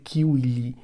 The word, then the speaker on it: civile: A pronúncia reconstituída seria civili, mas isso não faz muito sentido para quem não está afeiçoado, por exemplo, com a pronúncia reconstituída do latim.